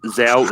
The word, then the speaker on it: Zhao: That is Zhao is correct.